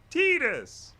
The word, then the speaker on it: Tidus: x everyone knows oh crazy about blitzball it's pronounced tidus ooh honeybee in the house what up what